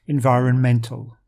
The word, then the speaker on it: environmental: noun to the adjective the noun has the stress on the second syllable environment while the adjective is on the next to last environmental so that's something to